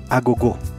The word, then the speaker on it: Agogô: for the jolen lab ago i'm pronouncing it the way i pronounce it in my native portuguese from brazil because that word actually